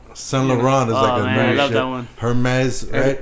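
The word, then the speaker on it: Hermès: wrong so the run her mez right what's that one you would definitely leave out the H like a lot of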